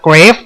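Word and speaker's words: Graves: Grave the Out Law ซึ่ง ชื่อ ของ เขา อ่าน ว่า Grave หลาย คน อาจ จะ อ่าน ผิด เป็น GRส ซึ่ง ผม เคย เห็น เคส นึง ที่ ผม ได้ เอา ลง เพจ เสร็จ ไป แล้ว ด้วย เขา อ่าน ว่า กราบ ทั้ง คน ส่ง มา ทั้ง ผม เงิบ ทั้ง 2 คน เลย เกฟ อ่าน ว่า เกรฟ ไม่ ต้อง มา กราเวส หรือ กราบ ทั้ง นั้น ครับ แชมเปี้ยน คน ถัด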